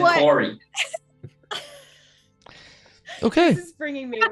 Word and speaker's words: Kari: Yeah, he said Corey, which rhymes with sorry.